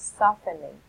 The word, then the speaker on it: softening: this is pronounced as softening so it's it's like open the letter T is a silent letter T so you don't pronounce this softening but it's softening